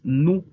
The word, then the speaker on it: nous: En plural, la primera persona es nous. Las letras O, U en francés se pronuncian U, así como en español U. Y la S al final es muda.